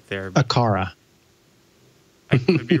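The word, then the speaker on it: Aqara: me how i i'm pretty sure you just pronounced it correctly right there akara you could be wrong let's let's double check yeah because i think we were saying like a kwara quara yeah i think it's a cara so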